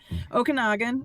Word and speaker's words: Okanagan: Okanagan is how we pronounce it.